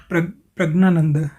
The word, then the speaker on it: Praggnanandhaa: तो ये बन गया पिरज्ञा, ये बन गया पिरग्नानंद, पिरग्नानंद। तो पिरग्नानंद, पिरग्नानंद ये जो बना है, इसका उच्चारण ये करेंगे प्रज्ञानंद, इसका उच्चारण ये करेंगे प्रज्ञानंद।